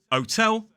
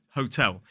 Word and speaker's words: hotel: say who are you don't say otel say hotel now with an H